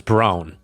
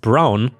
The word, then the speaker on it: Braun: She said why not, and I reminded her of the historical figure Eva Braun, pronounced Brown, which is not quite correct, but anyway, wife of